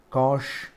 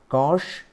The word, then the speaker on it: cosh: We'll be kind of like reading sine as shine, cosh, dan, shake, koshake and koth.